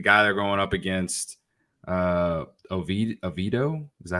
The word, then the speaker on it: Oviedo: Perhaps the guy they're going up against, Oviedo, is that how you say his name? Johan Oviedo, yes.